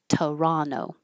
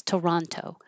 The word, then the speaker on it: Toronto: It will change to uh to T toronto or drop that T. Toronto. Where's Toronto?